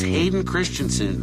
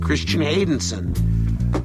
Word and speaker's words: Hayden Christensen: Because I get memos that say, it's Hayden Christensen. I said, well, I said that. They said, no, you said Christian Haydenson.